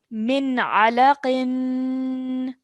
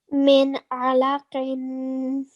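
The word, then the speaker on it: مِنْ عَلَقٍ: So we are going to pronounce this noon with a clear noon sound. Min alaqin. Min alaqin.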